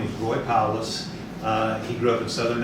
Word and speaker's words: Powless: So you have to say your first and last name, you have to spell it. Okay, my name is Powless, Powless.